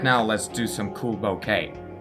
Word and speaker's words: bokeh: Right now, let's do some cool bouquet. Bokeh. I actually Googled how to pronounce it. It's bokeh. It's a Japanese term.